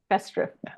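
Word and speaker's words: Festschrift: So I'd like to know, am I pronouncing this German word festri?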